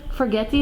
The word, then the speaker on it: forgetii: Maybe the forgetii that's right there that we talked about a little bit. Forgetii, yeah, you're pronouncing it.